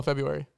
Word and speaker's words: February: Yeah, a lot of people forget that R. You're just sounding it out. Spell it. February. Got it. Yeah, no, because a lot of people miss that R in there.